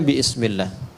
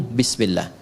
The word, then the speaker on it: bismillah: Asalnya bismillah. Dibaca nyambung bismillah.